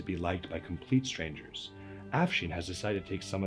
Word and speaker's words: Afshin: My name is pronounced Afshin, like Charlie Sheen with an AF in front. But everybody always mispronounces my name. I get Afshan and Asfine.